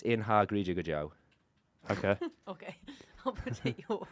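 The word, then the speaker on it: In ár gCroíthe go deo: but if we could look how that thing is spelt, In I've done a good job. Grochi Go Deo. No, it's Inha Grija Joe.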